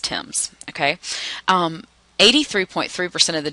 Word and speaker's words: Thames: source is the Thames I know it looks like it�s Thames but that�s pronounced tims ok 83.3 percent of